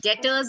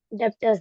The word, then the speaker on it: debtors: Debtors No, not account. debtors account. Yeah. B is silent, okay?